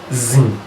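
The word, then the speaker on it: ziin: 1 is called zin. Zin is spelled as Z-double-I, zin.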